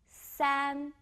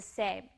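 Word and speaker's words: 三: three is three strokes Sam Sam Sam well show you the picture of a sandwich sand sums like the first part of sandwich and a sandwich also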